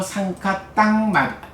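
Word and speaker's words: saṅkhataṃ: 요거를 이제 PTS에서 보면 상카따 마비 요 M이 M으로 안 나오고 응으로 나와요. M에 점 찍힌 거. 그래서 상카땅 아비 상카론띠 에서 유위를 형성한다.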